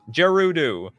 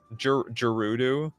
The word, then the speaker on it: Gerudo: It's Gerudo with a G. That does not help me at all. There we go. This helps. It's pronounced like G in gigantic. Gerudo. Gerudo.